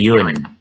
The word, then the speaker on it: une: Ini bacanya yun ya. Bukan yuyun, tapi bukan une juga, tapi yun.